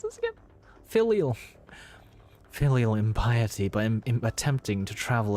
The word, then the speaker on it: filial: It's pronounced filial.